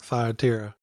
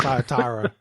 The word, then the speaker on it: Thyatira: If anything, I'm learning how to pronounce some of these words like Thyatira. Is it Thyatira? Which one is it? I prefer Thyatira. I mean, you'll hear it pronounced both ways, but right.